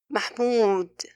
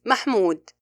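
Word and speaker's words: محمود: The second common mistake is when pronouncing the waw al-maddiya, some people purse their lips tightly, which results in a blocked sound, like this, Mahmoud, Mahmoud, while the correct way is Mahmoud, effortlessly.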